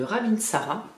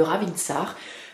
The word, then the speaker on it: ravintsara: de l'huile essentielle de ravintsara ou de rabin ça ça dépend on le prononce de différentes manières alors son petit nom